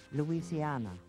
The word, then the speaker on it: Louisiana: Later in 1763, certain French possessions were ceded to Spain, and the name took on a Spanish pronunciation, Louisiana.